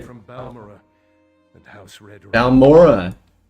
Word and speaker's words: Balmora: Balmora? It's like Balfoyen, Balmora. Get it right, god.